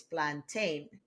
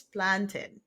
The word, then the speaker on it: plantain: And planted, a lot of you will say it's plantain. But just like you have mountain and fountain, it's plantain. It's not plantain.